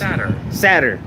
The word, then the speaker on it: satyr: This is pronounced Satyr.